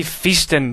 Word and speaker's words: Phaeston: using the face tignor the feastin depending on whether or not you are an ancient greek i will be pronouncing it faced in because feastin sounds ridiculous but anyway be faced